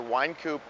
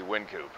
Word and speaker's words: Wynkoop: opened in 1988 and the owners of the brewery didn't want the word wine in their name so they went with the wind coupe pronunciation so today the street is either wine coupe or Wynkoop but the brewery is definitely Wynkoop I hope that makes